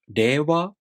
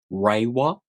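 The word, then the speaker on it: 令和: For example, if you pronounce the word reiwa with an English R, like reiwa, it may sound unfamiliar to Japanese people.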